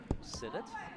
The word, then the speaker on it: Sennett: Kelly made sure before today's webcast that I knew how to pronounce her last name, Sennett. She said, kind of like Senate, but just a little different E sounded there.